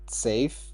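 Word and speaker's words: Saif: Uh, safe. S A I F. Is that your real name? That's That is my real name. You just pronounce it like Safe.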